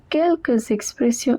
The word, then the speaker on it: quelques expressions: And there is a liaison, so the S at the end is also pronounced. Quelques expressions idiomatiques, it means some idiomatic expressions.